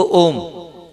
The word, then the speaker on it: ओम: प्राण मुद्रा का कितना है, ओ को 50% और माँ को 50% उच्चारण करना है हमें, ठीक।